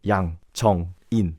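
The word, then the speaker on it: Yang Jeong-in: You have to say this word actually very quickly. If you elongate it, it becomes more weird. So don't say Jeong, say it quickly. Jong-in. So best way to pronounce Korean is to cut by syllable and blurt out the sounds at a time. Instead of Yang Jong-in, just say, like, be prepared and then spit out one word, Yang Jong-in.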